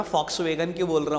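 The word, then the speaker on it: Volkswagen: क्यों बोल रहा हूं, फॉक्सवैगन ही है उसका नाम, वॉक्सवैगन नहीं होता। लिखते वी हैं, जर्मन कंपनी है, जर्मन कंपनी मतलब वी को वहां पर हम एफ प्रोनाउंस करते हैं। Correct word is फॉक्सवैगन नॉट वॉक्सवैगन।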